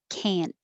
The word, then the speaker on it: can't: crazy about english but 24 is the negative can't but in regular conversation you won't usually hear the t and it will sound like can and it will be